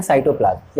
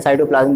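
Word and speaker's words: cytoplasm: भाई सेल तो एक ही है, तो सेल देखो जिससे मिलकर के बनता है ना उसको बोलते हैं साइटोप्लाज्म या सीटोप्लाज्म, जो भी प्रोनाउंस कर लो वैसे साइटोप्लाज्म बोलेंगे।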